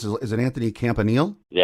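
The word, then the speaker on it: Campanile: defensive coach and I'm not sure how you pronounce is it Anthony Campanil?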